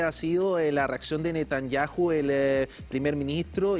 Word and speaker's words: Netanyahu: A ver, Netanyahu, como le decimos acá, la H no lo pronunciamos, ya dijo que la respuesta va a ser fuerte.